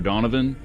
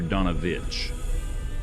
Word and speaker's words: Donovich: Uh I was I I like that Calderos was saying it wrong and call him Father Donovan, but you would know uh his name is Father Donovich.